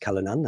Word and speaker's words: Callanan: So Martin Callanan, okay, and it is pronounced Callanan, I did check, who is a Conservative